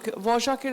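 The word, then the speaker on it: Dvořák: আর আমি বাপিকে বলতাম এই ডি এর পরে ভি ও আর কে, এটা কি কোনো উচ্চারণ, কি এটা ভজাক কি করে হয়? বাপি আমাকে বলতো যে এটা হাঙ্গেরিয়ান উচ্চারণ, তুমি বুঝবে না, তুমি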